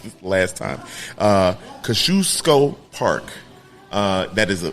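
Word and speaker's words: Kosciuszko: called it out after I messed up and said kazuk cuz nobody can pronounce it no nobody now you can kusco kusco um uh that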